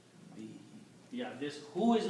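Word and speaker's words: بِهِ: is the water so when you read these together you pronounce them as be he be he yeah this who is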